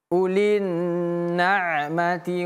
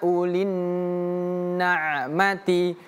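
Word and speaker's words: أُولِي النَّعْمَةِ: Jangan cepat-cepat ulinna. Tapi ulin agak ditahan lebih lama. Warni wal mukadzibina ulin na'mati.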